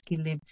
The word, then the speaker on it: Jilin: I think you pronounce Jilin in Chinese, Jilin. In Korean, it's Jilin.